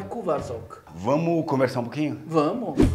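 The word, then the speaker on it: Kuvaszok: É um pastor húngaro. Esse é a pronúncia correta. É, na verdade, no singular é Cuvas, no plural é Cuvasok.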